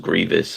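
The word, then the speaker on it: Grevioux: no you're right I believe it actually is pronounced Grievous but um I guess maybe once he started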